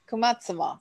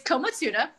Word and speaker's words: komatsuna: Your bio says your spirit vegetable is kumatsuma. I can't pronounce it. I just lost you again. How do you pronounce it and what is it? It's komatsuna.